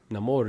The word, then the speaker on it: Namor: name more Neymar yeah Namor is how they say it I love that character